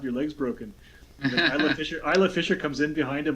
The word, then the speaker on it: Isla: It's pronounced Isla. Isla. So they do know. It's the actress Isla Fisher. Yeah, the actress Isla Fisher. Her name is pronounced Isla.